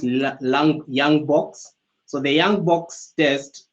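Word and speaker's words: Ljung-Box: summary results and where it's written um it's pronounced young box so the young box test um usually it's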